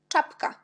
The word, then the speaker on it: czapka: Par exemple, on a CZ. Toujours, quand vous voyez CZ, on prononce ch. Comme par exemple, czapka, czapka.